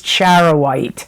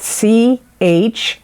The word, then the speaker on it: charoite: your sister sign of Scorpio got, which is charoite. And I'm going to spell that C-H-A-R-O-I-T-E, charoite.